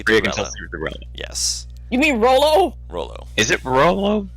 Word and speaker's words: Rolo: really like Rolo. I keep saying Rello because I have a tiefling wizard named Rello. Ah, That's why I keep mispronouncing it by accident.